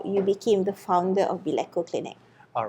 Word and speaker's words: Beleco: and today we are with Dr go from bco Clinic I pronounced it right right yes okay bco Clinic okay so before we get to know